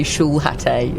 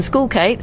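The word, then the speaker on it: Schoolkate: One day I'm going to have to say his name in a in a more professional setting and I'm going to say Schulate and Skoolcape Tristan Skoolcate against Corantan Moute the 32nd seed.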